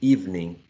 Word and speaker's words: evening: medicine also three right how do you pronounce the next one evening evening exactly evening two syllables the next one history